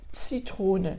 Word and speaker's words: Zitrone: Heiße Zitrone, attention bien le Z qui se prononce comme s'il y avait un T devant, un T, Zitrone, et c'est pas Heiße Zitrone, Heiße Zitrone.